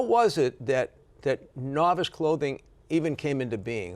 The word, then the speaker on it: Novus: the Latin route and it was no o us pronounced novice we read it wrong we said novice like a good Bostonian noice yeah yeah so up